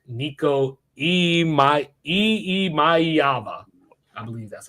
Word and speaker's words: Iamaleava: Tennessee, number 4, I do like Nico Iamaleava.